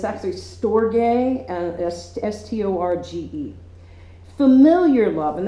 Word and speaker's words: storge: I had to look up the pronunciation of this because I would say storge, but it's actually storge, and S-T-O-R-G-E.